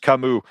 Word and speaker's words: Camus: Everybody's saying it's pronounced Kamu.